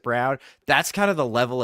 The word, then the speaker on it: Braun: Um but Ugo's just got it dude and like Christian Braun Brown however Braun but he pronounces it Brown.